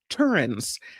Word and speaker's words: pterin: Um and they're studying these butterflies pterins. The word is spelled with a P in front, p t e r i n, pterin.